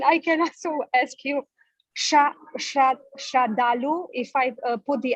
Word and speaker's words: Sraddhalu: Isn't it on the second syllable? yes. So in the Sanskrit, it will be Sraddhalu. Yes. Sraddhalu.